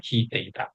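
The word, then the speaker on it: 弾いて: Cara bacanya hite.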